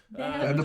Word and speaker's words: Xander: name my name is zand Zander ZT X like a cool X yes it's spelled with an X yes Tander sounds automatically